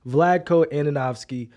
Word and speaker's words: Vlatko Andonovski: needed to say it on today's show so vladko ananovsky should we fire him Ro yes or no